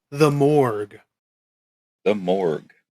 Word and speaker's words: mohrg: It's called the Morgue. The Morgue. Now, it's not morgue as in where you go to find a dead body. It's spelled a bit differently, MOHRG, if you want to look it up.